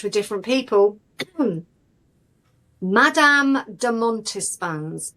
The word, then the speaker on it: Montespan: Madame de Montespan's name comes up.